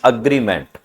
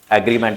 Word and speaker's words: agreement: Actual pronunciation is अग्रीमेंट। एग्रीमेंट एग्रीमेंट कई बार आप बोल देते हैं ना, एग्री है, एग्री हो गया है, इस तरह से कुछ बोल देते हैं। एग्री नहीं होता, अग्री होता है, अग्री।